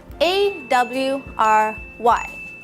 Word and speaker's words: awry: The first thing you see is the word awry, A-W-R-Y.